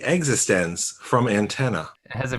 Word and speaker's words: eXistenZ: exit stems it's e capital x i s t e n capital z existence from antenna it has a very specific pronunciation excellent now do you would you like